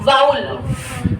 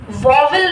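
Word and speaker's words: vowel: देखो, वाउल, वॉवल नहीं बुलाते, वॉवल इज the wrong pronunciation, वाउल्स ही बुलाते हैं, इट्स अ वाउल।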